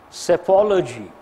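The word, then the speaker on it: psephology: of you know this self ology P silent s s-- apology PSE pho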